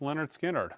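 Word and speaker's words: Lynyrd Skynyrd: 100 imprint analog records you should own list Leonard skinnard pronounced Leonard skinnard absolutely fantastic record sonically as well kind of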